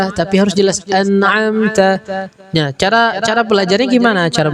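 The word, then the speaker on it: أنعمت: Nah, ketika huruf ta sama seperti huruf ka. Nah, cara bacanya nggak hanya sekedar tak, tapi ta. An'amta kayak lemes.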